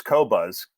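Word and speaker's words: Qobuz: simply bought the service cobuzz q o b u z no one pronounces it right because from France and it's like they don't use a u after the queue and I and I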